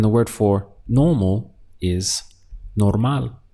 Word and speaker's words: normal: And the word for normal is normal. So exactly the same spelling, just we change the pronunciation to normal.